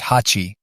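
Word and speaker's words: 八: They resembled the kanji that represents the number 8, which in Japanese is pronounced hachi, so he decided to name him Hachiko.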